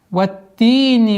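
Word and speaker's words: والتين: Ваттини ваззайтун. Ваттин. Уходим после огласовки фатха на та и удваиваем. Ватти, не ти, ватти, нет, ватти, нет, ватти, ватти. Чтобы при произношении носовой не было, а ватти.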